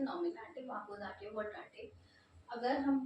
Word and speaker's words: Nominativ: नॉमिनेटिव spelling है NOMINATIVE, नॉमिनेटिव।